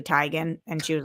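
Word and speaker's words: Teigen: Chrissy Tegan. Yeah. When she came out and said it's actually Tyan.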